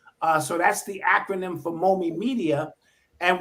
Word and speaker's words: MOME: And so I started MOME Media, which stands for Marcus, Odyssey, Malcolm, and Eli. Those are my 4 children. So that's the acronym for MOME Media. And when it almost sounds like mommy phonetically, and if you say